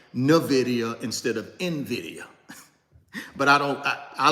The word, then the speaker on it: Nvidia: talk about real estate and be thinking about Nidia I got to address this because I know